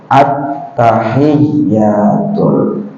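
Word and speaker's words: التحيات: inianya attahiyatul n bujur attahiyatul coba iringi UN ber Atta attyatul ul disambung attahiyatul attahiyatul harus hya tadi harus ditekan supaya mantas ditakan ya bila k ditekan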